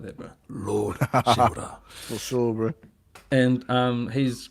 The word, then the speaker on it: Shimura: Lord Shimura.